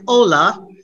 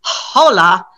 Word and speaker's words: hola: do have some exceptions like ola maybe a gringo trying to pronounce spanish would say hola because they're trying to pronounce the h right and in that case you don't pronounce your h yeah um and of